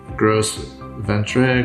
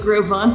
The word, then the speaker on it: Gros Ventre: French and yeah he'd be mispronounced yeah it's pronounced I'll give you a five gross Ventre gross palm tree groves bond grossed adventure gross in general yeah but Grove want is the proper pronunciation yeah and so in